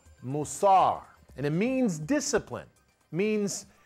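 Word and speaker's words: מוסר: taken from Proverbs chapter 12, verse 1, is pronounced musar.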